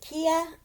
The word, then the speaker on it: Kaya: and Kaya had gone, some people in the book world pronounce it Kia. I pronounce it Kaya because I know Amaya, and it's the same spelling except for the K, so I call her Kaya.